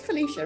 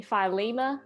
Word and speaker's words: Phylecia: felicia isn't it felicia it is felicia yeah yeah so many people pronounce it differently that um i've just stopped correcting people so what are some people saying well i get like someone called me philema the other day um and then